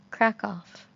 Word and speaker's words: Kraków: that you pronounced it crack off crackle crackle like it's not a very big emphasis on the F well it's not like